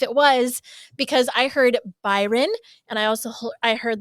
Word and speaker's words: Byron: Uh, and Molly actually asks him, "Oh, your brother's Brian, right?" And he just responds, "Uh, Byron."